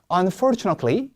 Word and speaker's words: unfortunately: 제가 하면 unfortunately 시작. unfortunately 콤마니까 lay라고 들어 올려주셔야 돼요.